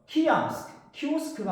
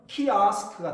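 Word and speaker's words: kiosk: 시대에서 밀려납니다 디지털 d5 키오스크가 아니고 영화 발음은 키아스크가 되겠습니다 키아스 이왕이면 발을 제대로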